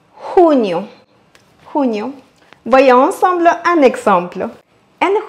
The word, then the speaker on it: junio: Mais que vous prononcez junio ou junio, le plus important ici, c'est de accentuer sur le U. Junio, junio.